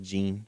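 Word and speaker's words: Jeanne: It's just Gene. Oh, Gene, sorry, I'm from here. It's spelled John, though.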